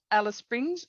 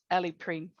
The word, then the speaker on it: Alice Springs: Mabantwa, Alice Springs. Alice Springs, or as we say in my language, Ali Pring.